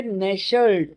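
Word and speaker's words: nestled: यहां आपने कभी वर्ड यह पढ़ा है यह है नेशल्ड। नेशनल का मतलब ही होता है आराम से होना। तो इसके लिए जो वर्ड आएगा एन ई एस टी एल ई इसमें एल साइलेंट रहता है।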